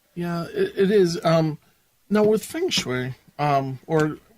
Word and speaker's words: feng shui: They called it feng shi. Yes. I guess there's different dialects. Maybe I'm not really 100% sure about that. Sure. I've been around feng shui forever, so, and it's one of these things